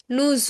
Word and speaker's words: nous: This is because the next word begins with a vowel. When the next word begins with a vowel, at that time only we pronounce the last consonant of the first word.